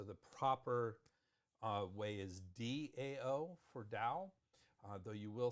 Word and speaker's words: Dao: to pinion so the proper uh way is Dao for da though you will see it as Tao pronounced exactly the same it is never pronounced